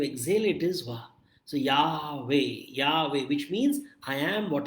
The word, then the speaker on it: Yahweh: And the word Yahweh, when you pronounce the word Yahweh, it really is like the inhalation and exhalation of the breath. So do this, Yahweh. So when you inhale, the sound is Ya, and when you exhale, it is Wa.